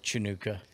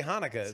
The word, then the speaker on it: Hanukkah: i ain't saying no chanukah don't say don't say it say hanukkah that's not how you pronounce it it's hanukkah okay yeah uh you